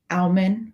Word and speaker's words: almond: It's A-L, so almond. Like, is it a silent L? I don't know. Is it? No, it's not. It's almond milk.